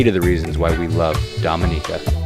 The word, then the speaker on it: Dominica: as well thank you we call it Dominica we call it Dominica it's called Dominica call it Dominica we call